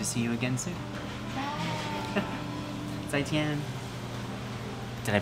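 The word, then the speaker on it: 再见: Zaijian. Did I pronounce that correctly? To pronounce what? Zaijian. Zaijian, yeah. I was close? You're right. Oh. Zaijian.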